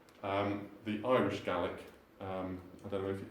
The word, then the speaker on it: Gaelic: It comes from the Gaelic, the Irish Gaelic. I don't know if, is it Gaelic or Gaelic, the Irish? Gaelic, okay, Gaelic. Gaelic in Scotland. Gaelic in Scotland, thank you.